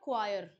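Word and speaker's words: choir: अ इसका प्रोनाउंसिएशन होता है क्वायर। ठीक है ना? हिंदी में थोड़ा डिफिकल्ट है इसको लिखना क्योंकि वा पूरा नहीं आता है। क्वायर ऐसे बोलते हैं इसको।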